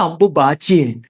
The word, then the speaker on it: Ambuvachi: In those scriptures the word is Ambuvachi. In the northeastern states, and among Bengali-speaking people, the sound "V" is often pronounced closer to "B." Because of that, Ambuvachi gradually became Ambubachi.